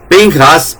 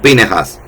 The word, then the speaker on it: Pinjas: Pinhas o pine has que se el proclítico es ponerle dentro de dos consonantes, sonido de consonante, una e muda. Es una e muda o una e pronunciada. Pinhas o pinejas.